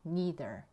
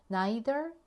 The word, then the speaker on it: neither: me neither 또는 me neither neither, neither 뭐 발음은 둘 다 괜찮아요.